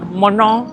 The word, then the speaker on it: Menton: Montong monong montong. Tulisannya itu menton bacanya monon.